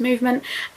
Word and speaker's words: MVMT: my channel today's video is a collaboration with movement watches they are it spell MV MT but it's pronounced movement they have created their company on the belief